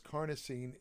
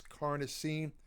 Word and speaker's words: carnosine: form it's called carnosine now the reason I I uh concentrate on that pronunciation pronunciation is because carnosine can be is often confused with carnitine it's called ELC carnosine not lcarnitine lcarnitine is something else lcarnitine is an